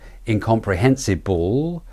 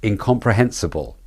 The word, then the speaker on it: incomprehensible: B and L bull it's not incomprehensible it's incomprehensible incomprehensible incomprehensible the rhythm is the